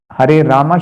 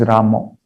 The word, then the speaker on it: Rama: is pronounced as krishna that o is a little prominent in those who speak native bengali so if naturally they